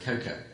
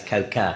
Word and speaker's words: coca: obviously Coke does come from the cocoa plant or tree, so there's a little bit of truth mixed in there. It's not actually cocoa, it's coca.